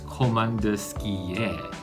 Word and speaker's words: Komandirskie: actually i really like coleman dursky it's actually pronounced as commander skier for simplicity's sake i'll just call it komodusky